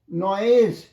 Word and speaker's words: noise: নয়েজ জয় শূন্য, মনে রেখো, উচ্চারণটা জয় শূন্য, উচ্চারণটা জয় শূন্য।